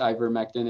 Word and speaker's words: ivermectin: It's pronounced ivermectin.